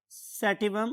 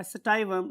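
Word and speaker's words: sativum: That was Pisum सैटिवम, और मैंने कल वर्ड यूज किया था सटाइवम. आप दोनों में से कुछ भी याद कर सकते हैं या बोल सकते हैं. अगर आप इंटरनेट यूज करेंगे और डिफरेंट प्रोनाउंसिएशंस देखेंगे तो आपको स्टाइवम और सैटिवम दोनों प्रोनाउंसिएशंस मिलती हैं.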